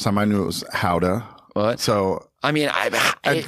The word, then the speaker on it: Gouda: Actually, I learned that it was pronounced Hauda is the actual real pronunciation. But if you say it, it just sounds strange. So I'm going to keep with Gouda.